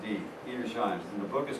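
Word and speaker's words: Edersheim: History by ERS Shine the man's name is spelled e d e r s h e i n that's a d eer shine in the book is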